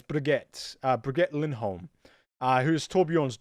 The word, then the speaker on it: Brigitte: the name wrong cuz I want to say Bridget but it's not Bridget it's better get forget Lindholm who's table